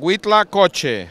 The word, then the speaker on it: Huitlacoche: It's called Huitlacoche. That's how you pronounce it.